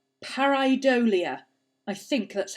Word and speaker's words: pareidolia: The seeing faces in things like clouds and tea leaves and stuff like that is called pareidolia.